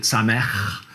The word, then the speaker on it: Samech: You need a little phlegm at the end there to pronounce it correctly, okay?